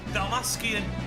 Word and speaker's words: Dalmascian: Dalmascian. Well, that's how you pronounce the bloody base of 16.